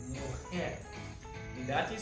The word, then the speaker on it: mujer: Now, for woman, we say mujer. And that is spelled M-U-J-E-R. Remember we said that the J is pronounced as an H?